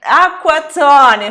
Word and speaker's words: acquazzone: Nós temos então a palavra aqua, que tem as letras C, QUA, né, que é qua.